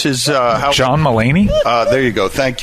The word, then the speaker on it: Mulaney: seconds who is the comedian is it james mulvaney how do you pronounce his uh john mullaney uh there you go thank you john mulaney